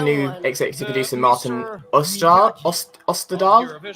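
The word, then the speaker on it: Österdahl: Is that how you say his name? It would make sense for him to be there. Österdal. Osterdahl, thank you. There's an umlaut in there, and I can't pronounce my umlauts very well.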